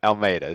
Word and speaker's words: Almeida: Well, it's definitely Almeida, so we got that part.